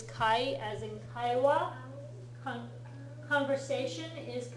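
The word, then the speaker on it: 会: that's out and it's the alternate pronunciation of this one is Kai as in Kawa conversation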